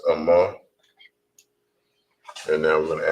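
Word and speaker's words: אמא: And for mother in Hebrew, that is pronounced as Amma.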